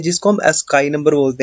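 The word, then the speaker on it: ASCII: Text रख लेता हूँ, हम इनको क्या बोलते हैं, अस्काई। ठीक है। इसको कई लोग आस्की भी प्रोनाउंस करते हैं, स्काई भी प्रोनाउंस करते हैं।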